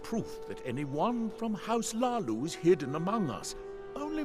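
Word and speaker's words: Hlaalu: I wish they decide how you pronounce Hlalu, because he just said Lalu, and then sometimes they say it with really hard emphasis, like Hlalu.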